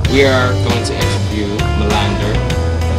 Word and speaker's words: Malander: We are going to interview MALANDER.